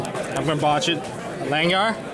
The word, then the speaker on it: Langjahr: I'm not gonna pronounce his last name. I'm gonna botch it. Langjahr? Langjahr, there we go, Langjahr.